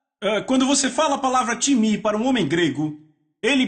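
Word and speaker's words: τιμή: grega timi então sr-se t i m e em português pronunciamos talvez time não se pronuncia dessa forma em grego se pronuncia timi repitam timi Ok então eu falei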